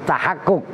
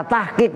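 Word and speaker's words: تحقق: Ba'da tahakkukil hali, yaitu tahakkuk. Dari fi'il madhi tahakkoko, ia tahakkoku, tahakkukon. Karena itu jatuh setelah ba'da, otomatis masdar. Maka cara membacanya tahakkuk. Kalau dibaca tahqiq nggak boleh.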